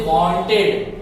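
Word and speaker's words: wanted: और जो हम यहाँ ई का प्रोनाउंसिएशन निकाल रहे थे टेड में, वहां आई और डी का प्रोनाउंसिएशन अब निकाले।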